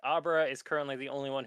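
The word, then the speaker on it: Obra: A I thought it was Aubra yeah it's Aubra Aubra how is that spelled o b r a the summer one's name is spelled oo no just Oro I know I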